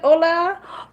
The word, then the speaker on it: hola: Hola. Hola. ¿Cómo está? And hola actually has an H at the beginning, which is silent.